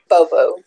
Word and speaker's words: Bobo: Bobo.